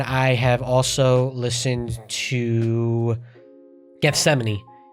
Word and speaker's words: Gethsemane: And I have also listened to Gethsemane. Butchered that in the first reaction. Had no idea how to say that, but you guys let me know. It's Gethsemane.